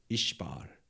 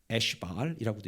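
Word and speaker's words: 이스바알: 발음을 좀 조심하셔야 되는데요. 이시바알이에요. 이시바알. 그래서 에시바알이라고도 읽고 이시바알이라고 읽어요.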